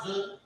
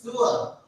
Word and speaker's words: zur: Not Zul, it's loud pronunciation. It's Zur. Z-U-R. Z-U-R. The word is Zur. The word is Zur. We pronounce it as Zur.